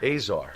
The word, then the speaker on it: Azar: make sure i'm saying it right czar azar azar yeah he's who's the star that makes